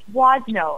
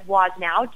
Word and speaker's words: Woznow: So it's Wozno, and a lot of people pronounce it as Woznow because that's exactly how it's spelled. But it's actually Wozno, so the W on the end is silent.